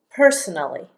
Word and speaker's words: personally: We would use the word personally, and notice how I pronounce it, personally. I really kind of mash these two syllables together, personally.